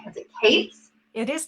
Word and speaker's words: Kaitz: I'm really excited that I'm here today with, and I want to make sure I'm pronouncing your last name right. Is it Kaitz? It is Kaitz. It's Kaitz.